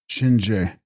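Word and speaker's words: gShin-rje: text the shinre pronounced shinj lord of death but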